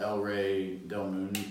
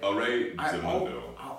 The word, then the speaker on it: El Rey del Mundo: Yeah, but with this cigar, the El Rey del Mundo, or am I saying that right? El Rey del Mundo.